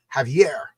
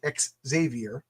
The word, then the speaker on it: Xavier: child named Xavier, but she pronounces Javier. Javier. So I just say Xavier because I don't even think about it. I mean, I should You're right. I should say exavier, but I I just